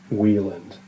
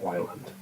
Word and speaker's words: Wieland: As a brief note, the author's last name is pronounced Wland, not Wland.